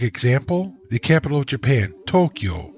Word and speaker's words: Tokyo: the capital of Japan Tokyo is two syllables toe and Q but because of the long o sounds it is actually Four moras toe o q o the Tonka adds up